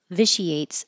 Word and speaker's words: vitiates: eponymous viate the I the ti here is a sh viate the bill vitiates the existing legal arguments